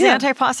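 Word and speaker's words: antipasto: It is antipasta. I'm saying it right. anti like anti-aging.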